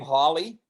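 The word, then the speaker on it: Halley: just a side point apparently he pronounced his name holly oh he did holly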